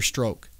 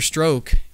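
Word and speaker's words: Strzok: was the revelation about a gentleman named peter stroke okay and that's spelled s-t-r-z okay okay he's one of the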